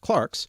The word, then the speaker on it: clerks: in the Middle Ages clerks sometimes now pronounced Clarks were the only well-educated